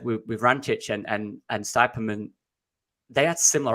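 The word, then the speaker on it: Vrančić: Vrancic. Oh my God. Mario Vrancic. Yeah. And he got... He is me giving you pronunciation.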